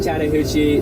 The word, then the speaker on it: Chattahoochee: This is the Chattahoochee. The way that you can kind of pronounce it is like Chatta and then Hoochie.